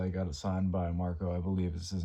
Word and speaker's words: Marko: It is Beherit Drawing Down the Moon signed by three out of the four members, which uh obviously Marko That's how you say his name.